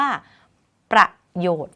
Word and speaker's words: ประโยชน์: ค่ะ คำ ว่า ประโยค ไม้ ทัณฑฆาต กำกับ อยู่ บน ตัว น หนู ไม่ ออก เสียง น หนู เรียก ว่า น หนู การันต์ อ่าน ไป เลย ได้ ตรง ๆ ไม่ ต้อง มี เสียง น หนู ว่า ประโยชน์ ค่ะ เป็น ต้น นะ